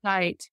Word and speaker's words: Zeit: Zeit. Am I pronouncing that correctly? Yeah, within, Dr. Zeit.